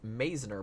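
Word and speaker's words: Mizner: Um Jeffy Art says, "By the way, guys, not to be one of those, but it's usually pronounced Meisner Park, which is interesting because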